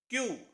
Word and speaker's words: queue: 5 letters, एक word, pronunciation सिर्फ इतनी, क्यू, क्यू, और जिसका मतलब होता है लाइन लगाना।